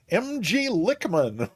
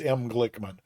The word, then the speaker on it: M Glickman: And no Sim Caesar, it's M Glickman. M Glickman and I are making fun of another streamer who consistently pronounces it MG Lickman, but you've been doing it right all along, M Glickman.